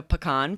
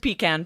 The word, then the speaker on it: pecan: Yeah, so I said I'm going to make a pecan pie, which I certainly could have said pecan pie.